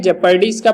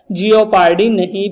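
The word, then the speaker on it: jeopardy: जेपर्डी इसका pronunciation आपको याद रखना है, जियोपार्डी नहीं बोलना है। ओके, यही हम बोल सकते हैं। इंडियन का एक है कि वो अपने मतलब अपने हिसाब से वो जो उच्चारण देते हैं उसके हिसाब से जियोपार्डी ही बोलेंगे, लेकिन जो चेक करने के बाद पता चला है वो जेपर्डी है।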